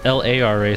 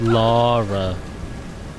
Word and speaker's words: Lara: It's L-A-R-A. So I thought it was Lara. But it's not. It's Laura. Laura.